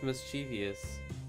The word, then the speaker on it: mischievous: mischievous I hate you can't even pronounce mischievous properly Mama yeah it's mischievous I can hear you